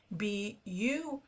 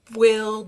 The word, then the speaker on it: build: And I want to mention here, we pronounce the word build the way I'm saying it, like it's B-I-L-D, even though the word is spelled B-U-I-L-D, we pronounce it build, not willed, not booled, build.